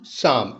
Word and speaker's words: Psalm: एस ए ल एम शाम ल साइलेंट है यहां पर तो इस